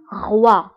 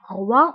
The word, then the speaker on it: roi: بالنسبة ل O I O I كنطقوها ب وا وا. example roi roi هو الملك. فهنا بالنسبة ل 13 كتعني رقم 13، ريدو كيعني ستار، roi كيعني ملك roi.